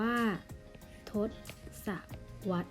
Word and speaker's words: ทศวรรษ: ของ ทศวรรษ นะ คะ อ่ะ ทศวรรษ อ่าน ว่า ทศวรรษ นะ คะ หมาย ถึง ช่วง เวลา 10 ปี